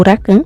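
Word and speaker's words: Lakan: Diferente da Maama, que é bem resistente a álcool e venenos, o pai dela, Lacan ou Racan, depende também de como você pronuncia, tá?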